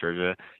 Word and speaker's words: Saoirse: That's how you say her name, by the way, Saoirse.